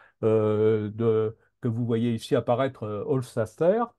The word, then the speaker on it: Hofstadter: Et puis un bouquin un peu plus philosophe que vous voyez ici apparaître, Hofstadter. J'ai toujours du mal à prononcer son nom. C'est Stater à la fin.